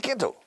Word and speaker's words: quiet: Quieto es still, como todavía. Estate quieto, be still. Quédate quieto, stay still. Ahora, quiet. Se pronuncia quiet. 2 sílabas, quiet.